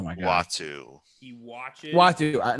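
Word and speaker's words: Uatu: Watu, not Atu. Sorry, I said it wrong.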